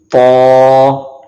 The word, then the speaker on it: ط: طا طا. You can also see this is also the Mustalia letters which we have to pronounce according to the thick voice.